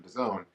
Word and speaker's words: DAZN: and it all and we use the correct pronunciation to zone use the on camera anyway when I first